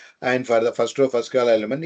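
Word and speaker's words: ρ: at the symbol and this is a Greek symbol Greek alphabet you might have heard you might have used to be pronounced as row row of a and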